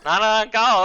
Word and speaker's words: Manananggal: Manananggal.